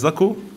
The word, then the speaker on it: Zako: Wie spricht man seinen Namen genau aus? Er heißt Sakko.